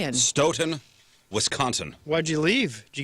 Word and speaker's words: Stoughton: by the way, says it's pronounced Stoughton. Stoughton? Does Brian live there? Oh, okay. Thank you, Brian. Stoughton, Wisconsin.